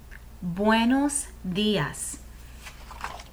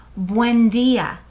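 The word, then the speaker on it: buenos días: someone in the morning in spanish we say buenos dias buenos dias buenos muy dias very good sometimes you'll hear people say buendia repite buendia and both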